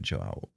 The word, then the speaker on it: João: If that's the case, then if it's like a Portuguese Brazilian pronunciation, João? João. Because it's got the accent on the A, João.